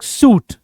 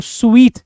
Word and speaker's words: suite: इसको wrong pronounce कर देते हैं लोग सूट, बट ये सूट नहीं होता है, इसको स्वीट कहते हैं।